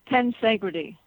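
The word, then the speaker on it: tensegrity: It's the concept of ten I'm not I'm not pronouncing it right. Tensity.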